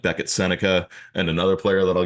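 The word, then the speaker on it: Sennecke: spelled differently yeah yeah it's spelled differently yeah it's like s NE CA senica so when I saw his last name I didn't know that's how you pronounced it like I just found out maybe like last week that it's pronounced senica and I'm like that's cool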